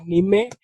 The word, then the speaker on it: nime: So it's the first one you pronounce it in the Swahili way, like Nime, and then the grow part is of course the English It's part.